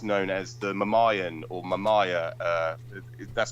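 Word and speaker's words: Myanmar: And of course, Burma to this day, it's known as the Mamayan or Mamaya. That's correct. Malayan. That's how you pronounce it.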